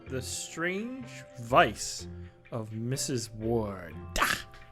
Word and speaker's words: Wardh: strange vice of mrs ward that's silent silent h on the end ah not the only